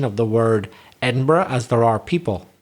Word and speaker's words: Edinburgh: So you put a burra there. You don't say Edinburgh. No. You say Edinburgh. Yeah. 4 syllables.